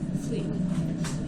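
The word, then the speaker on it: phlei: with micob bacterium master your dog or cat Fleet it's spelled p hlei but it's pronounced Fleet remember when you took this one picture in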